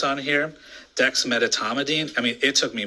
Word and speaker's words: dexmedetomidine: a very difficult word to pronounce on here, dexmedetomidine. I mean, it took me months to learn how to say this, so I want to say it again because I learned dexmedetomidine, okay?